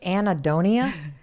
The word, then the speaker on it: anhedonia: You just anhedonia?